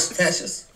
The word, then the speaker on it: fatuous: again but do it fous the T is like a CH F fous that's a different